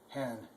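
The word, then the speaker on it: Herrn: And of course there's hen, and the R, go easy on the R. Germans never make a hard American R sound, so it's just hen.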